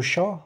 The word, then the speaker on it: chat: Por exemplo, vamos voltar aqui, le chat, o gato. A palavra T não se pronuncia.